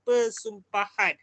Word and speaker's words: persumpahan: Pean perkataan yang sebenar bila sebutan yang sebenar yang dibunyikan adalah persumpahan bukannya umpahanumpahan tu ejaan salah tu Oke sepatutnya perkataan yang